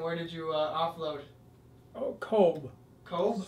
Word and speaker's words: Cobh: Oh, Cobh. Cobh? C-O-B-H. They pronounce it Cobh.